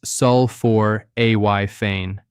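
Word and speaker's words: sulforaphane: That's spelled s u l f o r a p h a n e and it's pronounced sulfor a y fane.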